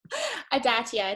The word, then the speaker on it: Adatia: So with that, with gratitude and thanks, I'd like to introduce Larissa Adatia. Did I say it right, Larissa? Oh, you're muted. Adatia, it's a hard T.